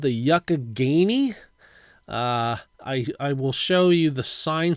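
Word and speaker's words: Youghiogheny: it looks like Yu-Gi-Oh gainy but it's actually pronounced Yakagany and it looks like you can do some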